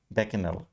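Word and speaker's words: bacchanal: इसका प्रोनाउंसिएशन रहेगा बैकेनल।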